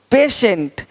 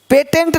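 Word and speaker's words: patient: कुछ है ही नहीं देखो पेशेंट पेटेंट नहीं पेशेंट पेटेंट पेशेंट पेटेंट पेशेंट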